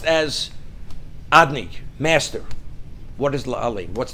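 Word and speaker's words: אֲדֹנָי: It's pronounced Adni, although it's written Yud-Kei Vov-Kei, we don't pronounce it as it's written. The pronunciation is as if it would be written Aleph Daled Nun Yud, but we don't pronounce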